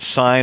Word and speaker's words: sign: You have this silent G, which makes it sign or sin.